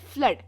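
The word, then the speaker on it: flood: भी बोलते हैं उदाहरण एफ एल ओ ओ डी को हम कहते हैं फ्लड फ्लड मतलब बाढ़ और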